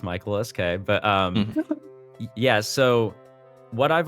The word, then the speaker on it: Michael_SK: First off, yes, no underscore that is pronounced. It's just Michael SK.